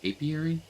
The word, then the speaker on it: apiary: bee farm yes probably I think it's how it's pronounced apiary let me see oh little too far yeah I think I pronounced it right a pi i a r y b Farm we have